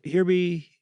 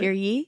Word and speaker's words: Hear ye: So here here here here be Wait, how do you say it? Here be here be No, no. What is it? Hear ye. Hear ye. I keep saying here be.